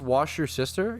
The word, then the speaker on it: Worcestershire: It's pronounced wash your sister.